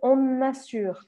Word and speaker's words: on assure: vocês prestem atenção que eu faço o que eu chamo sempre de liaison, ou seja, que eu grudo a primeira palavra, on, né? O som dessa primeira palavrinha seria on, sem eu marcar o N. Mas como a próxima começa com A, o que eu faço é que eu grudo isso aqui, pronunciando o N aqui, nesse caso. Então, on assure.